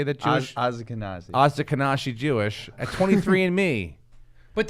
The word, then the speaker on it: Ashkenazi: Find out if you have Oshkosh Jewish in you. Is it Oshkosh? How do you say that Jewish? Ashkenazi.